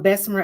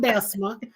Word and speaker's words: Bessemer: I am originally from Bessemer, Alabama. Went to You gotta say it right. You know we don't say it that Bessemer. proper. It doesn't have an R on the end.